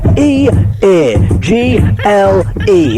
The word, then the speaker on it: Eagle: Eagle like the bird.